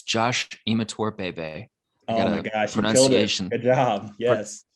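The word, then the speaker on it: Imatorbhebhe: It's Josh Imator Bebe. Oh my gosh, you killed it. Good job. Yes.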